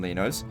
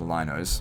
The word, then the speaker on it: Lino: So I put down 2,000 Linos. Sorry, it's pronounced Linos.